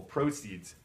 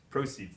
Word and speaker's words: proceeds: this one is proceeds this one has stress on the first syllable proceeds proceeds that means money that